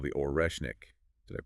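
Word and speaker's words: Орешник: announcement about this new missile it's called the oresnik did I pronounce that right yeah you got oresnik oresnik which means Hazel tree it was apparently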